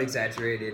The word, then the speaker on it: exaggerate: Exagger, the two G's make a ger sound, so exaggerated.